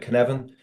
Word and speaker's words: Cynefin: We came it around 10 years ago., Dave Snowden created the Cynefin framework. Cynefin, pronounced "ku-nev-in," is a Welsh word that translates as "place" or "habitat."